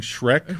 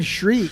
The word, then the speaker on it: Shrek: really big effort, to You try were to pronouncing Shrek wrong? Or? Yeah, I kept saying shriek.